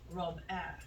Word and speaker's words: Robert: mum beamed with Robert she pronounced his name the French way Rob air restlessly she seems Starstruck